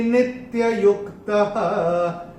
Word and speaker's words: नित्ययुक्तः: आपकी किताब में नित्ययुक्त लिखा है और मैंने चैंट किया नित्ययुक्तः, क्योंकि ये जो यहाँ पे जब संधि छूटेगी तो यहाँ पे ये विसर्ग का उच्चारण आएगा, नित्ययुक्त ऐसे करके आएगा।